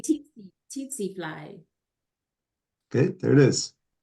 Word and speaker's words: tsetse: Teats flies. It's a tsetse fly.